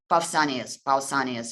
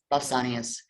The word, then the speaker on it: Pausanias: always very friendly, but it is Pausanias, I think it's pronounced in English, Pausanias, who is actually the